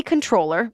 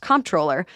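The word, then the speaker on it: comptroller: But when they moved in, city controller, also sometimes pronounced comproller, Brad Lander, locked arms with the immigrant and demanded to see a judicial warrant.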